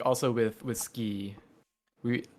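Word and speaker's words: 好き: right, because like also with ski, we like sometimes jokingly you'll hear it said Suki, but Mm-hmm. it is largely just pronounced Ski ski.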